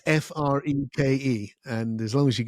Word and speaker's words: Freke: It's a funny name, but it is pronounced Freak, which is kind of crazy.